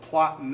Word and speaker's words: Plattner: last name again yeah in German you would say plat plat yeah okay so like as long so plottin there yeah okay cool